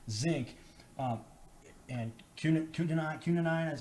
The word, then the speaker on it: quinine: have these, vitamin D, vitamin C, zinc, and quinine, is how do you say that right?